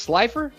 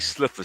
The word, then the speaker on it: Slifer: It's Slifer? Did I say it right? Yeah. Uh-huh. You said we figured out how to say it. I know, and I'm still figuring it out. I think Sliffer sounds better, but okay, Slifer.